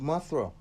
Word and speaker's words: Mathura: Krishna was said to have been born at Mathura, pronounced Mathura, on the river Jumna, where many of his miracles were performed.